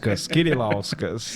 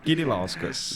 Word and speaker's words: Kirilauskas: Kirilauskas. É lituano, é como se escreve, é como se lê com K. Kirilauskas.